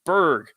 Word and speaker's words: burg: the other hand respectively if a new town was named by people of British extraction they would use b-u-r-g-h and the correct pronunciation would be burrow if it was named by people of Germanic or Scandinavian extraction they would use b-u-r-g and the correct pronunciation would be Berg oh come on man